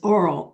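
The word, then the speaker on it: AWL: program right now is oral a w l it's pronounced like oral it's a great little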